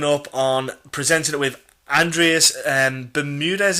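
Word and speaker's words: Andrés Bermúdez: You are stepping up on presenting it with Andreas Bermudez, is it pronounced? Andres Bermudez, yes.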